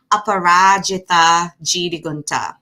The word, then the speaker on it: Aparajita: so needed um so my name is dr aparajitha um and i'm gonna say it one more time so you can learn how to pronounce it apparatchita and it is an ancient sanskrit name i